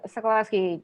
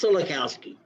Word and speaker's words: Solokowski: only person uh mr sokolowski do you have any comments please you mispronounced my name it's solokowski yeah i listened to